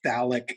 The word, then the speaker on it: phthalic: has sitting around is phthalic anhydride um we don't pronounce the the f sound the ph sound we just everybody says phthalic anhydride and so let's go